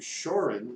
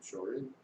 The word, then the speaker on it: Shorin: And one of the two styles I've trained in karate is called Shorin Ryu, and Shorin is the Okinawan pronunciation of Shaolin. Shaolin, Shorin.